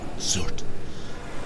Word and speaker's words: Surt: I always thought it was Surtur, because of the way it has an R and it's spelled, but I guess The it's Norsemen Surt.